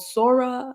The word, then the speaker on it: Sora: open AI recently released I think it's called sora I don't know how you would pronounce it s o or something like that Sora yeah Sora okay perfect and basically you can